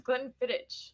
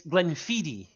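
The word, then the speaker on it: Glenfiddich: Distillery 15year Solara blend gleniti is not spelled the way it sounds because is that how you pronounce it I thought it was Glenn fit you got it right hell yes but it's it's Glenn fidi it's it's yeah I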